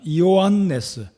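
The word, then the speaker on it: Ἰωάννης: 잔이라고도 하는데요이 요한의 헬라어 발음으로는 이요한 레스가 됩니다 이요한네스이 히브리 발음으로 히브리 이름으로는 요한안 또는 예호아 난이 되겠습니다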